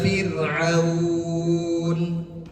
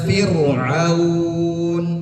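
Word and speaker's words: فرعون: Yang pertama yang betul ila Fir'aun. Yang keliru ila Fir'aun. Itu yang keliru, ditebalkan.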